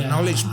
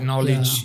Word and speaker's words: knowledge: many silent letters like knowledge yeah you don't hear the K at the beginning you don't hear that